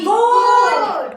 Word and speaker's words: goat: तो अपना ही मम्मी है ना, तो ए साइलेंट हो जाता है और जो ओ है वो अपना ही नाम पुकारता है, ओ ऐसा बोलता है। तो जैसे कि दो कॉन्सोनेंट के बीच में ओ पहले ओ फिर ए, COAT कोट, BOAT बोट, GOAT गोट होता है ना ऐसा?